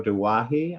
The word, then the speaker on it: Douaihy: So, and her name is Margot Douaihy. I think I said that correctly. Paul told me it Perfect. rhymes to say it like Hawaii with a D.